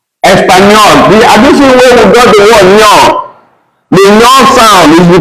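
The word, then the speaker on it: español: But we now have the N with something on top is pronounced as no, no. Just like we have Espanol. Espanol.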